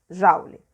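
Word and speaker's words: joule: é esse j jauli escreve com o juli mais pronuncia jalili certo então a resposta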